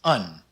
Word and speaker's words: een: without the exit marks is an exception in dutch it's pronounced un and to help you